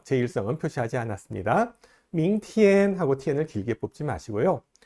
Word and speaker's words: 明天: 보면은 tn 자가 제일 성으로 나와있는데요 그게 경성으로 발음합니다 전 여기서 지금 1 써 제일 성은 표시하지 않았습니다 밍 티엔 하고 튀는 길게 뽑지 마시고요 밍 캣 기회를